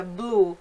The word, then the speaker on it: blu: Olha só a palavra blu, azul. É como no inglês, né?